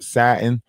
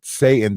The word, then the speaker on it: Satin: That is satin. That is not Satan. Don't y'all pronounce it Satan, and y'all don't think that it say Satan. Y'all better say what the fuck I say it say, which is satin.